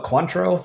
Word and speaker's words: Cointreau: Oh, Cointreau, I think. It came back to me right before you said it. Mm. It looks like coin true.